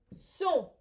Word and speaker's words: sont: And then il or elles sont. Sont. We're not pronouncing the T.